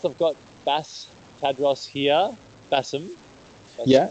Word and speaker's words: Bassem: guys I've got bass Tadros here Bassam yeah Bassam is my full name bass is perfectly fine